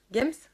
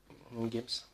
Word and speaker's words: Games: Games? Games? Ou Game? Games. Attends. Ce serait dommage que je prononce pas le S.